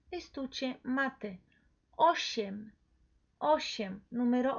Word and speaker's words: osiem: Entonces, osiem, ¿sí?